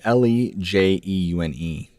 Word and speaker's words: Lejeune: It's Lejeune.